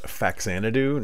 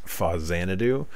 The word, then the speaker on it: Faxanadu: Now, I'm sure that the correct pronunciation is Fazanadu. However, excuse me. I always called it Faxanadu as a kid, so that's what I will continue to call it forever.